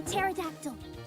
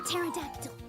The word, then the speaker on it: pterodactyl: the 40-foot wingspan the p is typically silent but i enjoy the saying of a pterodactyl a pterodactyl right right we'll go with